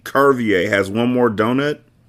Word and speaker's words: Curvier: with a hard C, like Curvier, not a soft C like Servier.